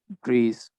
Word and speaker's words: breath: There is no E at the end, and it's pronounced as breath.